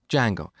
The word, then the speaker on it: Django: D Jango so it's spelled with a silent D and it's pronounce Jango it's a web framework